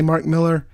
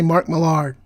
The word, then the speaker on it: Mark Millar: Some people say Mark Miller. To him, from what he said, both pronunciations are correct depending on what part of Scotland you're from.